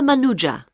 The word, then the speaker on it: Manuja: My name is Manuja. Uh, can you spell that, please?